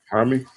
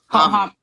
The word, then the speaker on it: Jaime: Jaime. Hami. Hame? Hami. Yeah. I had Hami at first, and then I was going back